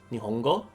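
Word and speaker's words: 日本語: Nihon, and then the language Japanese would be, Nihongo, and then a Japanese person would be a Nihonjin. Yeah. So Nihonjin is a Japanese person, Nihongo is the Japanese language.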